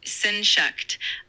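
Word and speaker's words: Sehnsucht: The word is pronounced as senshuck.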